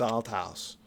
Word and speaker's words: Althouse: is my name is Alt House and I'm not going to let this go. You need to pronounce it correctly. That's al house.